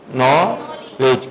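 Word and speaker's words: knowledge: कहा था कल बताएंगे अब नॉलेज नहीं पढ़ेंगे नॉलेज कनक नहीं पढ़ेंगे नौक क नाइफ नहीं पढ़ेंगे नाइफ इसी तरह डी कम्स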